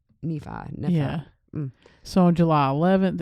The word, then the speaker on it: Nephi: I mean, the southern pronunciation will say Nephi. We both said that at the same time. We didn't even rehearse that. That's our southern pronunciation, but we know that's not right.